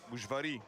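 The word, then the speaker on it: Újvári: And now we are going back to Zoltan Uivari. Am I saying it right? Ushvari.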